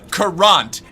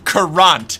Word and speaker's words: currant: And she looked at me and said, "Current. It's pronounced karant."